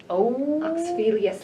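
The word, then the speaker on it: Xenophilius: Yes, How do you even pronounce his name? Oh. Oxphelius Lovegood.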